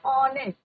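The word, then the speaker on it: honest: तो यहां पर प्रोनंसिएशन क्या हो रहा है ऑनेस्ट अ ऑनेस्ट रंग एंड ऑन एच क्या है य प साइलेंट हैने रंग है एंड दिस इ योर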